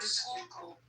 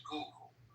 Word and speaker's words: Schuylkill: Is the name, how do you pronounce the name of the river? Is it the Schuylkill River? Schuylkill.